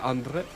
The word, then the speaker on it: André: Because my name is French, like in French. I thought he was about to say his name is Fuckface. No, as no, well. no. Je m'appelle André.